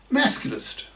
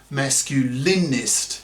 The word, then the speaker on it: masculist: close brackets, would be the word masculist, brackets, note, not masculinist, as the French are so obsessed with lately, close brackets.